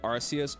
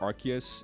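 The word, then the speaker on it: Arceus: through your trash you say arus or archus depending I feel like since I've been told how to say it properly quote unquote I I kind of default to archus more times than not but I do prefer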